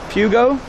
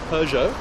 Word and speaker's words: Peugeot: Has Pete tried pronouncing Peugeot yet? Pugo? Peugeot. Oh, Peugeot. Peugeot.